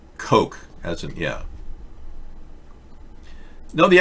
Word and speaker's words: Koch: word cook like the cook brothers the koch brothers it's pronounced coke as in yeah no